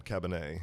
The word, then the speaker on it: Cabernet: Cabernet.